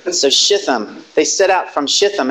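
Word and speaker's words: Shittim: There's no dagesh forte in the Tau. I think it's a soft pronunciation. Not a t, but a th. Shitham.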